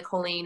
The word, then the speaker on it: Colleen: say like alley choline colleen colleen colleen and on the back they say like jolene but with a c like we literally had